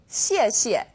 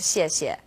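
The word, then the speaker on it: 谢谢: You can think of it kind of like the word she and 谢.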